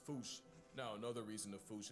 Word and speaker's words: fossa: way to say it, is foosh, foosh, foosh, like foosh with a performance anxiety at the end. Experts feel free to correct me, but apparently that is the closest to the OG Malagasy pronunciation.